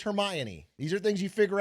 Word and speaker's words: Hermione: That's like when I read all the Harry Potter books and I thought it was pronounced her own. Okay, it's Hermione.